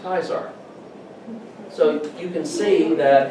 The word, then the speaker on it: Caesar: caesar you pronounce it caesar in latin the c is pronounced as a k so in latin that word caesar is pronounced kaisar so you can see